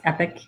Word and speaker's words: Epoch: of epic lasers that's e-p-o-c-h but it's pronounced epic and um he has